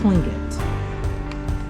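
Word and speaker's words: Tlingit: So the T is a K. He says it's clinging.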